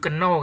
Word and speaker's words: know: Ya, jadi kan makanya kita nggak bilang do you know kan?